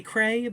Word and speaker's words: Creagh: Her last name is not spelled how it sounds, but it is Kelly Creagh, but it is spelled Creagh.